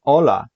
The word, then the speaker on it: hola: pronunciation hola como estas h is not pronounced in hola that's interesting maybe you'll